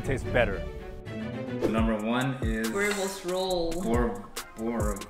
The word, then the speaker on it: boerewors: Boerewors roll. How do you pronounce this? I'm not Afrikaans. How do you pronounce this the proper way? Boerewors.